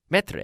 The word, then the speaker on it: maître: Maître, I think. Maître is it. Yes, it's right. I'm always concerned about my pronunciation of that particular word, maître.